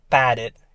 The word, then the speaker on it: padded: Though all of these end in ed, but they're pronounced differently. Walked is t, it's walked. Jogged is jogged, and padded, it's ed.